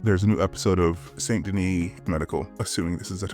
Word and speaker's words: St. Denis: There's a new episode of Saint Denis Medical, assuming this is, I'm pronouncing this in the French way, but it's probably Saint Denis since this is an American show.